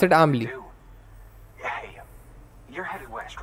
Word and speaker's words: Amelie: You pronounce it Amelie.